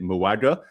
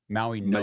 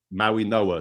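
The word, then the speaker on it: Mauigoa: I've been pronouncing it Muaga. So how do you pronounce it, Josh? Maui, like Maui. Maui Noah. Yeah, Maui Noah.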